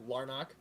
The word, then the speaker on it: Larnach: in the left field, Trevor Larnach, I believe is how you pronounce his last name, Larnach. Correct.